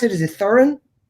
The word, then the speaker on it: Thorin: How do you pronounce it? Is it Thurin? Thorin.